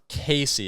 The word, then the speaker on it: Caissie: Casey. It's kind of like a French last name, so I'm not going to spell it, but uh it's Casey.